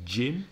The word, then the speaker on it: gym: giant general gym gymnasium gym that's gy m gy not J I am no but the sound is exactly the same the J sound in Jim and Jim exactly the same pronunciation g IM or sorry